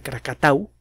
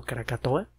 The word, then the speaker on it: Krakatau: no muy lejos de krakatau mal pronunciado krakatoa la erupción de tambora